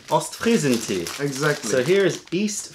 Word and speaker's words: Ostfriesentee: Yeah, Ostfriesentee. Ostfriesentee.